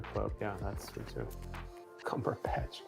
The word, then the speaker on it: Cumberbatch: Cumberbatch. Cumberback. Oh my god. Yeah, he put that in fast in the wrong syllable.